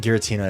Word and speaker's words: Giratina: I feel like Giratina is with a hard G.